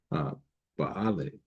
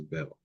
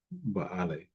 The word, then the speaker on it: Baal: And down through the passage of time, we understand that that is for Baale, or commonly pronounced as Bel, but Baale, according to phonetic construction.